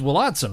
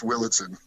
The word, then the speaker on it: Willadsen: It's It's Wadson, right? I mean, I'm pronouncing your name like it's it's it's Willitson. It's Danish. That's what I'm saying. And that's how we say it. That's how your I said like a German like Vadson.